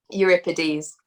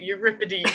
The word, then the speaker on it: Euripides: can't say his name euripides that's it you rip a deep that's it i had left over